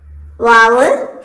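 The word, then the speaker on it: واو: പിന്നെ 2 ചുണ്ടുകളുടെയും മധ്യഭാഗം തുറന്നു വെച്ച് വാവ് ഉച്ചരിക്കണം. വാവ് ഇതുപോലെ ഉണ്ടാവും. 2 ചുണ്ടും എന്താണ് തമ്മിൽ മുട്ടും, പക്ഷെ അതിന്റെ മധ്യഭാഗം അല്പം തുറന്നിടണം. അതാണ് വാവ്.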